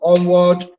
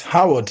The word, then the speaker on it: Howard: grateful right from um onward am I correct with the onward is he onward it's Howard Howard actually Howard University Howard okay it's Howard you know me I'm